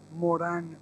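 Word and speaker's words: Morin: Y quiero citar aquí a uno de los más maravillosos ancianos del mundo occidental, que se llama Edgar Morán, se escribe Morín, es un epistemólogo francés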